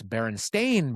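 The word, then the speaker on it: Berenstain: It's Baron Stain Bears, but everybody thought it was Steen because just people said that cuz cuz Steen would is a popular last name, right?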